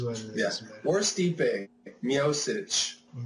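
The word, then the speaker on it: Miocic: know it is what it is wor steep mosich how did I say it did I say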